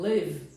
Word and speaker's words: live: Eu acabo, se você falar corretamente o verbo live, você acaba no V, não é isso? Você não fala o E.